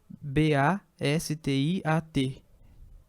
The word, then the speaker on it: Bastiat: B-A-S-T-I-A-T.